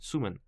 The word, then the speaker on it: Sumin: Sumin, like Sumin from like saying it the same as Sung Min. I mean Sung Min from Stray Kids, and Sumin, right? Without G. Okay, Sumin.